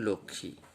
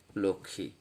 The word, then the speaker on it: লক্ষ্মী: যেমন লক্ষ্মী, এর উচ্চারণটি খেয়াল করুন, লক্ষ্মী। এই যে এখানে একটা চন্দ্রবিন্দু দিয়ে একটু সানুনাসিক উচ্চারণ করতে হবে, লক্ষ্মী।